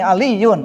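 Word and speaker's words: عليٌّ: Bacanya ini Aliyun, bukan Ali. Ya, Ali itu nama Indonesia mungkin ya, Ali. Tapi kalau Arab Aliyun.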